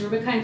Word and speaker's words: Rubika: I didn't know that my name is pronounced Ruby kind so I turned to